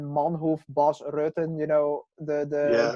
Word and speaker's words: Manhoef: mean America is if people so many people always say bas Rutten you know and Melvin Manhoef it's Melvin Manhoef boss Rosen you know